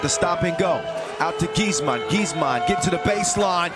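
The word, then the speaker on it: Giessmann: the jump hook and if I'm saying his last name wrong correct me could be Gman huh gizman it's gizman in German gizman I would say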